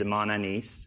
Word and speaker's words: Imane: Your name is Imane, yes. A.k.a. Pokimane, Great pronunciation.